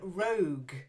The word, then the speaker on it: rogue: try it yeah then Rogue a little bit like brogue without the bee Rogue a joke about it